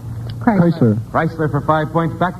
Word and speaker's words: Chrysler: out Jaguar all right the car whose name sounds though it is not spelled the same as a famous violinist chry Chrysler Chrysler for Five Points